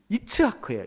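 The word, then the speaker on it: יצחק: 이삭이라고 하는이 이름을 히브리어의 정확한 발음으로 하면 이츠크예요. 이츠크. 빨리 읽으면 이착크 그걸 이제 우리는 이삭이라고 읽고 있는데요.이 이차크라고 하는 말은 차하크라고 하는 말에서 왔어요.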